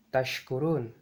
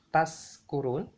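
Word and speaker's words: تشكرون: Misalnya saja, Allah Ta'ala berfirman dalam Al-Quran dengan lafaz la'allakum tashkurun, yang artinya agar kalian semua bersyukur. Tetapi apabila kita ucapkan dengan lafal seperti ini, la'allakum taskurun, maka artinya akan melenceng menjadi agar kalian semua mabuk.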